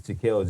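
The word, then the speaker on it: Jahkil: get into right now, but his name is Jaquel Jackson. So obviously he's a brother. and that's spelled J A H K I L Jackson.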